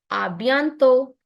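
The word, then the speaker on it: à bientôt: A bientôt. Because last T is silent. A bientôt.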